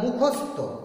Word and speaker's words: মুখস্থ: হ্যাঁ স্যার মুখস্থ করেছি, কিন্তু ত আসছে, উচ্চারণ ত কিন্তু নয়, উচ্চারণ হবে থ।